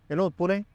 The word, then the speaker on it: Pune: It is Pune.